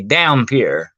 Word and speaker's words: dhampir: A half human, half vampire is called a dhampir. Okay, that's spelled Dhampir.